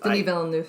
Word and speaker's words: Denis Villeneuve: Denis Villeneuve. Thank you. I knew I was going to pronounce it incorrect.